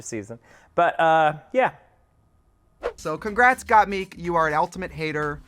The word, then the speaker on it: Gottmik: So congrats, Gottmik. You are an ultimate hater. Congratulations. Yes. Is it got Meek or got Mick? Oh God, it is Gottmik, isn't it?